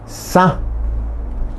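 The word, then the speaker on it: sã: Bueno, piola, soga, se dice sa, también, sa, nasal, sa, sa, quiere decir soga, piola.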